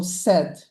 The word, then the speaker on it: said: So we put a heart on top of the ai there to show them them that's the part that makes the short e sound, not the long a sound. So it's spelled with ai, but it has the short e sound. So said.